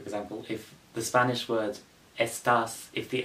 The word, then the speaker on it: estás: Take the Spanish word estás, for example. The accent is above the A, which means you exaggerate the word, like, over the A.